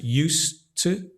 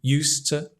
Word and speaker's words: used to: d but it's pronounced used to right you don't really pronounce the d it connects with the T used to used to and this